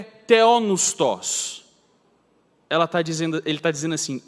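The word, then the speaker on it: θεόπνευστος: do grego do termo theopneustos, ou, falando só todas as letras, o jeito errado de pronunciar é theopneutos, vem de Deus e vem de sopro, de espírito, de fôlego.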